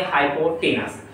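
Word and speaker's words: hypotenuse: टेन लिखा है लेकिन टेन न लेके प्रोनाउंस लेंगे हाइपोटेनस।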